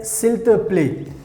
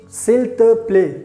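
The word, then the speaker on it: s'il te plaît: somebody very well so you can say silt play silter play so here we have to use the pronunciation filter play here we can use silver play silver play one ac please come here so that's how you can use silver play silk to play to say please and now let's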